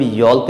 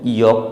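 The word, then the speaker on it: yolk: इसे हम यॉल्क नहीं यॉक पढ़ेंगे, यहाँ पर एल साइलेंट रहेगा।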